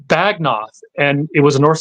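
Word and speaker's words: Beagnoth: It's pronounced Bagnoth, and it was a North style sword found in England.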